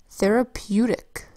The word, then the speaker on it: therapeutic: Therapeutic is spelled with a TH that says th, then an ER that says air. That's a strange R-controlled vowel sound for the ER phonogram. Usually ER says but in therapeutic, ER says air.